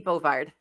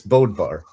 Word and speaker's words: Bodvar: You said Bovar. It's Bodvar.